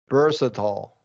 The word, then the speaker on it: versatile: Now these are some outliers where it's going to be a reduced vowel sound and also flap T's for all of them.